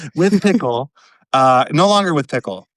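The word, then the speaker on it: PIKL: he is done with Pickle, P I KL, however you pronounce it. One of the many brands that you know sounds like Pickle. Pickle seems like a fair bet for that one.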